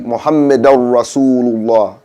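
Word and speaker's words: محمدا رسول الله: But because it's followed by a ra, we follow that same rule with the dhamma with the noon sakin. So it should be Muhammadar Rasulullah, not Muhammadan Rasulullah. It's called the ilgham.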